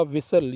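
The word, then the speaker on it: whistle: इसी तरह विसल, ये फेमस वर्ड है, इसमें भी टी साइलेंट होता है, विसल बोलते हैं, विस्टल नहीं बोलते हैं।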